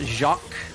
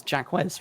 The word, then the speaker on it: Jacques: I believe it's pronounced Jacques. My accent gets in the way, so I don't like saying it in that way. It's a French word.